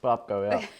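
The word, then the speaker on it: Popko: lot of people comment about seeing you as Popco. That's how you say it, right? Popco. Popco, yeah.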